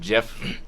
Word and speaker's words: GIF: It's supposed to be pronounced Jiff. I don't know how G's work. We have a hype train going on too. No, the internet Alright. decided it's GIF.